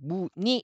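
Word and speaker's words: 무늬: 따라서 'muni'( 패턴 ) 의 경우 , 자음 으로 시작 하는 음절 의 'ui' 입니다 . 그렇다면 어떻게 ? 발음 은 딱 한 가지 입니다 . ' 무니 ' 라고 발음 하세요 .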